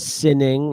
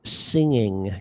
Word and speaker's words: singing: And yes, it's hard to get the g for singing because we have a little g. So it's not sinning, it's singing.